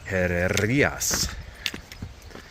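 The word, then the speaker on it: Herrerías: The accent is on I. Herreras.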